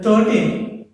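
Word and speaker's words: thirteen: For example, see here, 13. In the 13, there are two syllables are there. One is th, another is T, 13, right? The stress on the T.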